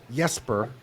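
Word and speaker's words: Jesper: So Yesper is the way you pronounce it and it's Yesper Makes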